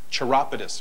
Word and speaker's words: chiropodist: Chiropodist, excuse me. A chiropodist specialize. Easy question. I can't even pronounce it.